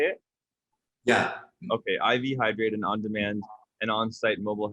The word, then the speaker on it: IV Hydrate: Okay, IV Hydrate, an on-demand and on-site mobile health, pharmaceutical, and wellness service provider across the United States.